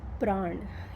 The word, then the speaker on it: prana: And fire is actually representative of so prana, or whatever it's called prana in English, but it's actually pran, or that's how we pronounce it in India.